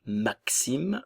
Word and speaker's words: Maxime: en, Clément, Léo, Tom, Maxime, ok, le X comme si on avait le son que et ce, Maxime, le E final ne se prononce pas.